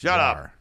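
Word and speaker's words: GWAR: I just still don't understand how WAR is pronounced Gar instead of Gore.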